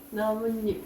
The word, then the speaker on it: 나뭇잎: 오케 다 자연스럽게 어떻해 나뭇잎 나뭇잎 이렇게 발음나요 이건 니은니은 소리가 덧 나거든요 이걸 또 나타내기 위해서